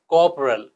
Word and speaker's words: corporal: अब देखिए, पहला वर्ड CORPORAL, यहाँ पे आर साइलेंट है तो ये हो जाएगा कॉपरल, और दूसरा कोफोरियल।